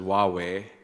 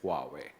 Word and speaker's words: Huawei: or as in the Dutch say who but that's completely wrong right well I guess you know uh not being uh originally a Chinese guy I it took me a while to pronounce it correctly so you pronounce it as Wai well uh when I'm with my teams I pronounce it as Huawei when I'm home and when I say huawe nobody understands so I say Huawei yeah uh San you're